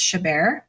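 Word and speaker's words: Chabert: Rachel McAdams Lacy uh I looked up how to pronounce her name I believe it's shabar and Amanda safreed and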